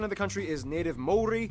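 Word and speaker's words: Māori: Oh man, it's pronounced I actually Maori, feel not better. Maori, Maori.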